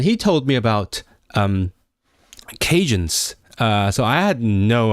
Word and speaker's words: Cajun: because the the acadians like Acadian French pronounces like Dia as a j which is also what Cornish does Cornish uh so aadan become Cajun Cajun which is very very